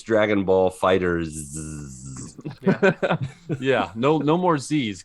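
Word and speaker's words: Dragon Ball FighterZ: There's like Dragon Ball Fighters. It's just with a Z Fighters. at the end. Yeah. But so it's Dragon Ball Fighters.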